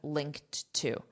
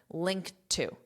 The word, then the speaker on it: linked to: And notice this pronunciation here. This ED is being pronounced as a soft T, linked. linked But then, I have this T from two. And two is part of the expression. So, when I pronounce them together, I'm not going to hear those the T here and the T here, linked to. linked to. So, I'll just end on that, linked to.